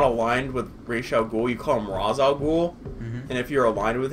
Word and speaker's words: Ra's al Ghul: right ray Jean google it's either Ra's al Ghul or ratio cool I think rage is actually the proper one but an arrow what